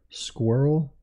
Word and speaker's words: squirrel: often actually yeah squirrel squirrel is hard to pronounce it's like the word girl squirrel words that rhyme with squirrel really just girl squirrel girl but yeah why